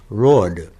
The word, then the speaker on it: road: when I was young the older people always said rod which is impossible to spell rod I mean you see it in print and you see sometimes people write it r u d rod but that isn't it ro it's a very very strange pronunciation but that's all past